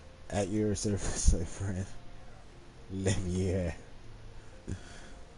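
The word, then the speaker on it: Leveilleur: Afanad Leveler at your service, my friend. Levier. Gotta say it like the French do.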